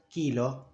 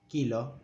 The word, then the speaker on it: kilo: As in the word kilo, kilo. It's not kilo, but kilo. Remember, O is always O.